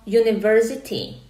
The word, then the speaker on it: university: Píše sa ako u, teda píšeme tam samohlásku, ale vyslovujeme spoluhlásku. Vyslovujeme to j. Počujete na začiatku j. Bude to an university or a university. Ak ste povedali e máte pravdu, pretože ide o to, ako slovíčko vyslovujeme, nie o to, ako sa píše.